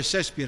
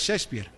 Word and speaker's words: Shakespeare: aquellos que hablan de Shakespeare Shakespeare algunos dicen así pero es Shakespeare bueno llegué a la